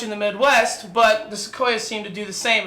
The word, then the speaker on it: Sequoia: I thought Sequoia was pronounced Sequina, and I thought that is a weird fucking name for a car, the Toyota Sequina.